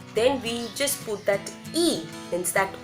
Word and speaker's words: y: Y means English Y, that alphabet Y is, in Spanish it's and, right? And we pronounce as E, right?